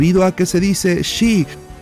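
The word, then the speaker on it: 四: Se pronuncia Shi, sonando igual que muerte en japonés o en chino Shi.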